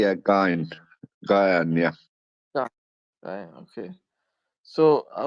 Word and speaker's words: Ghyan: Brother Ghyan, how do you say your name? Ghyan? Yeah, Jan. something like that. Yeah, Gyan, yeah.